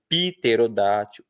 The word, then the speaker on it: pterodátil: Ninguém pronuncia mais isso, a gente pronuncia píneo, pterodátil, psoríase.